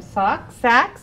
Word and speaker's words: Sachs: And we're happy to be joined by Erin Haley and Sachs. I want to say it right, Sachs, like saxophone, to tell us all about it.